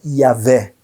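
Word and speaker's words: Yahweh: Apesar disso, os estudiosos, os grandes pesquisadores, com base especialmente em transliterações gregas antigas, eles acham que o nome mais provável é Yahvé, ou seja, Javé em português. Talvez isso foi a pronúncia mais aproximada do nome original, né?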